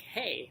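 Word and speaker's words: hej: they speak swedish and it is spelled h-e-j but it's pronounced more like hey like hey how you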